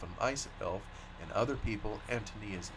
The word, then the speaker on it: Antonia: Bohemian name anonia is strongly accented on the first syllable like the English name Anthony and the I is of course given the sound of long e the name is pronounced Antonia book one the shamas